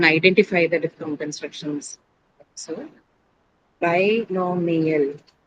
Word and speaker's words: binomial: A lot of people would say binomial. So they'll say it's a year uh diffic. That's not the case. The binomial is by no me. Okay. So me and L are two different syllables.